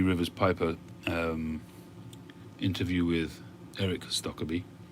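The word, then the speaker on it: Stokkebye: After watching Professor Jeremiah's and Three Rivers Piper interview with Eric Stokkeby, well, actually it's Stokkeby. The Americans seem to say Stokkeby, but it's Stokkeby because he himself pronounces it Stokkeby.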